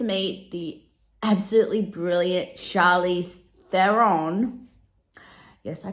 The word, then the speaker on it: Theron: we get to meet the absolutely brilliant Charlize Theron yes I pronounced this surname correctly as the this time